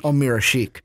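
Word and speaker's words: Ömer Aşık: ESPN loves to say his name wrong when us in Chicago know how to really say it. Omira Sheik.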